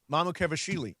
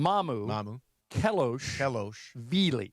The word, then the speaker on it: Mamukelashvili: Mamukevashvili. Yeah, that's not Here's the easy way to do it. Yeah. Okay. Do it in 3 parts. Okay. Mamu. Kelosh. Vili.